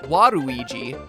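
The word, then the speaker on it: ワルイージ: Waluigi's name works even better in Japan, where his name is pronounced Waruigi.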